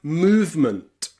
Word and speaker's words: movement: So in words like movement, movement, and improvement, that E in the middle is completely silent. It's move with the V and then ment, movement.